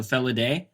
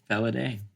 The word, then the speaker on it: Felidae: Felidae. I think so. Felidae. There's a theme song, yeah. We have a song in this case to tell us how to pronounce the title.